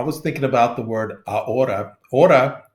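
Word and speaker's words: ahora: thinking about the word a ora h o r a of course we don't pronounce the the H it's like the word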